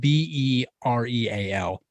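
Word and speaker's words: BeReal: It's it's spelled B E R E A L, but it also kind of sounds like be real, which is like kind of a good plan.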